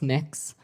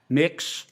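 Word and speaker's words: Mx.: what you're you're proposing it's pronounced mix um mix is that how you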